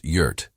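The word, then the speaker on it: EURT: The hastily formed coalition named itself Earth Unified Response Tactics, EUR T, pronounced Yurt, because Cass refused to sign off unless the acronym was dumb enough to confuse enemy scanners.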